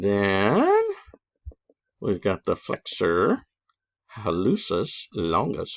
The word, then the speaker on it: hallucis: we've got the flexor hallucis longus i've also heard it pronounced halicus so i don't care